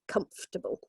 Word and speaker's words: comfortable: got married the first so it is three syllables okay comfortable the o.r the second what would be the second syllable is completely missed out so it's comfortable okay and we got